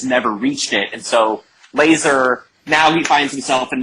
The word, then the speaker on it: Lazer: czar like who is lazar laser so laser sorry yeah that's how they say it in canada he's uh he's